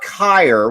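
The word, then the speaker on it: Kriisa: okay now can we talk about kyre which also rhymes with greyer all right kyr made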